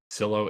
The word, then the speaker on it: Silo: help out with so silo is pronounced like windowsill yes so we were